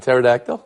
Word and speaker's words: pterodactyl: you don't think of dinosaurs in fact you pronounce the P in pterodactyl that's interesting I chose you know our Papa